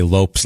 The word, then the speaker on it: Lopes: Because no, I just know in an article they say Lopes like ropes to make sure you know. Okay, to make sure you know it's not Lopez.